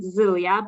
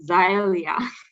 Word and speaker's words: Zylia: is korean it's a female female name we pronounce it zelia but people in the united states i guess they pronounce it xylia right all right okay and another quick question